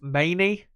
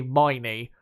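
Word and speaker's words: Maini: it that way but it's actually my knee rather than mainly uh so yeah I've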